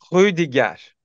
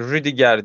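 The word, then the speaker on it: Rüdiger: de Alman var ama ya Almanca telaffuzu daha çok hudiger değil ama en başını vurguluyorum önce Aslında birazcık daha söylenebilir ama yani rudigar diyoruz rodier Çünkü demek Biraz zor burada biraz Fransızca gırtlağa kayıyor gibi r ü yan yana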